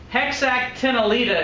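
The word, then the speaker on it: Hexactinellida: find the glass sponges heck sak ten aletta is how you pronounce that but you're right I'm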